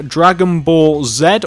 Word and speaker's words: Dragon Ball Z: here we have the Dragon Ball Zed or Dragon Ball Z logo wherever you are from in the world you'll pronounce it accordingly this is the Dragon